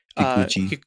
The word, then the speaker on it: Kikuchi: for a lot of Dragon Ball music, Shunsuke Kikuchi, I believe is how you say it. Yes. Kikuchi.